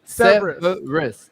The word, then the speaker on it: Cerberus: Cerberus.